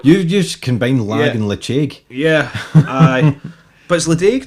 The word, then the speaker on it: Ledaig: It's le-ch-aig. I think it's actually how it's properly pronounced.